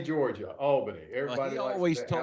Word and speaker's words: Albany: Is it actually pronounced Albany, Georgia? Can you hear me okay? Yes. Perfect. No, it's Albany, Georgia. Albany.